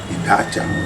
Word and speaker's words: Idacha: Idacha, parce que le A, le O étant avalé.